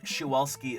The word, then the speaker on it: Przewalski: And Cepheid Variable says Przewalski is the correct Polish pronunciation.